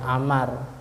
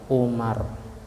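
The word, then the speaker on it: عمرو: Kalau ada wawunya setelah ro, cara bacanya Amar. Kalau tanpa wawu namanya Umar.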